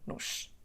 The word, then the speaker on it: nos: Então, como podem ver, a palavra nos pode estar antes ou depois do verbo e vai ser sempre pronunciada como nos.